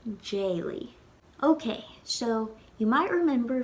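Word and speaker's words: d'éiligh: When we put it in the past tense, it becomes jayly, because the first vowel in that verb is an E, which is a slender vowel. So we wouldn't say daily, we would say jayly.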